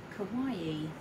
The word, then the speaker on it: kawaii: now kelly will tell you this is called kawaii which i always get told off for saying it wrong kawaii okay so that's that one we'll leave that